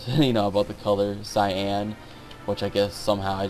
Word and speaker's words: Cyan: second rule scenario and it's cyan now I was talking earlier about pronunciations when I was younger in playing this game I actually called him Cayenne and although that was a cooler sounding name definitely later on